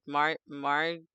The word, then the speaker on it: margarine: Margarine or margarine?